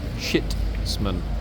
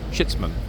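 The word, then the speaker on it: chitsman: is a chits man okay uh let me spell it c h i TS m a n shitman shitman okay what is a chitman good question in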